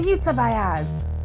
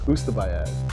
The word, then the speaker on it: Ustabayaz: How do you say it? It's Zaibatsu backwards. Uh-huh. Ustabayaz.